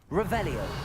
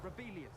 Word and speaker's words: Revelio: Rebellious. Saying it wrong. Revelia. Much better.